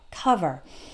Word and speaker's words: cover: I take it back sometimes the O is pronounced like that even when it's in a stressed syllable so it like the word cover the oh it's an O but we don't take over or call vert we say cover uh uh cover other